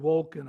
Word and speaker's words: Wolken: Recently, there was an article in USA Today written by Dan Wolken, I think is how you pronounce it, W-O-L-K-E-N.